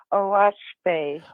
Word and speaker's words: Oahspe: It's spelled OAHSPE, and it's pronounced Oaspe. Oaspe.